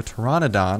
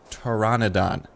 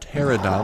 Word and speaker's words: Pteranodon: on stream and he's going to be a Pteranodon which is actually the correct pronunciation of it and there we go disappeared uh the correct pronunciation is Pteranodon not pterodon like I was saying or it's not pterodactyl